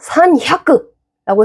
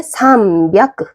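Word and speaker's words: 三百: 그러니까 산야크라고 해야 되는 거예요. 근데 해보세요 한번. 산야크, 산야크. 배에 힘이 엄청 들어갑니다. 그래서 힘드니까 어떻게 해야 된다? 바꾸자. 좀 더 편한 발음으로. 그래서 나온 게 삼비아크. 삼비아크. 어때요? 좀 더 발음이 편해졌죠?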